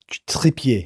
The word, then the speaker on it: Trippier: Trippier. Yeah. Trippier. I like to Frenchify it.